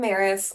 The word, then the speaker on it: Maris: Hi, I'm Maris. It rhymes with Paris for pronunciation, and I use she, her pronouns.